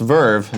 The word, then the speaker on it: VRV: at this company Verve vrv is pronounced Verve made by the team